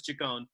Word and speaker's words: Ciccone: roommate he pronounced Taccone like Madonna does pronounce that Ciccone I've had Italians telling me no it's G cone but you know yeah